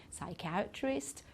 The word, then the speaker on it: psychiatrist: We don't pronounce the P in psychology, psychiatrist, pseudo, okay, so we don't pronounce the P at all.